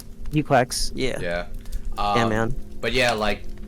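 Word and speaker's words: GQuuuuuuX: Tom says it's pronounced Gquax. Gquax.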